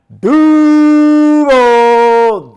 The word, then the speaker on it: Duval: Duvall or how did he say Duvall Duvall?